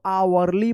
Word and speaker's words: hourly: आवरली पढ़ेंगे, आवरली। यहां पे भी एच साइलेंट है।